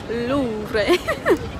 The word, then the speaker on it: Louvre: Yeah, the taxi man said you pronounce it Louvre.